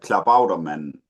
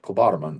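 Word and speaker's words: Klabautermann: I knew it would be that one, but it's a Klabauterman. Klobotterman. Okay, it's not Klobotterman.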